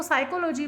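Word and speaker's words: psychology: साइकोलॉजी है, उसकी spelling P से स्टार्ट होगी, और जब उसको पढ़ना है तो उसको साइकोलॉजी पढ़ना है।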